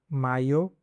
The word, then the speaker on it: mayo: In some regions, it may sound like "majo," while in Spain and many other countries, it is commonly pronounced as "mayo." So, depending on the accent you are learning, you can use the corresponding pronunciation. masho Mayo, or majo.